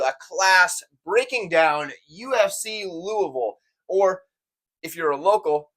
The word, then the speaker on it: Louisville: class breaking down UFC Louisville, or if you're a local, Louisville, because the less you pronounce of the word, the more accurate it is, from my understanding.